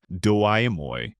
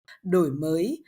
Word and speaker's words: Đổi Mới: You see, the government started a reform called Doi Moi. Now, don't think that's how you pronounce it. I'm AI, so they're still working out the kinks. It's pronounced đổi mới, which means renovation.